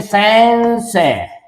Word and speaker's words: संशय: य बोलेंगे, सैन बोलेंगे, लिखेंगे तो संशय, बोलेंगे संशय, यह जैसा उच्चारण करेंगे।